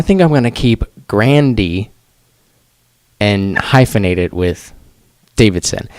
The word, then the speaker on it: Grande: I was today years old when I found out that it was Grandy right. instead of Grande. I think it's Grandy, not Grande. It's Grandy. Yeah, Grandy.